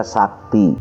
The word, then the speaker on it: Sakti: itu ada tulisan Garuda Sakti itu Sakti itu ditulisnya itu huruf C pakai curak di bawahnya kayak koma gitu dan dibacanya sakti pelafalannya tapi penulisannya begitu lalu saya coba lagi